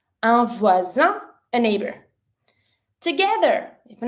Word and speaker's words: voisin: Then, a neighbor is un voisin. Here, pronunciation-wise, s is between two vowels, so you pronounce it like a z sound. Un voisin, a neighbor.